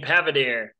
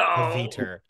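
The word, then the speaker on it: Pavitr: And I'm playing Pavadir. So close. Oh. Paviter.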